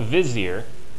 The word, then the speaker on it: Vizier: his position actually exists it's called the Wazir mm-hmm right wozy er which in the movie they call Vizier is the same title just pronounced differently that position existed and